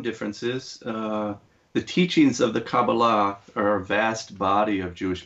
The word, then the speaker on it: Kabbalah: who talk about the Cabal and am i pronouncing it correctly me Kabbalah Kabbalah okay so they're talking about the Kabbalah